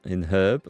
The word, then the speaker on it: herb: You think it's cute I pronounce the H in herb like it's a name? I'm pretty sure that's how it's supposed to be pronounced. I know Americans don't pronounce it. They call them herbs or herb. And if that was the case, we wouldn't need the first letter there in the word, would we?